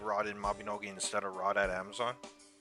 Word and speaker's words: Mabinogi: Also, it's Mabinogi, not Maganobi. Like, it's Mabinogi.